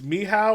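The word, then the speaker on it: Michał: actually says Michael and the pronunciation is on there then it says me how or me how is how you say is how you say my spelling and polish which won me points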